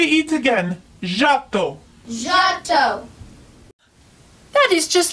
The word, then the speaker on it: Giotto: me by my first name say it again Otto Otto that is just like me my name